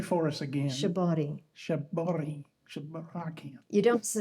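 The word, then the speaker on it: 絞り: correctly for us again shabari shabor shab you don't in Japanese you don't really say an R so it sounds more like a d shabot and um it's um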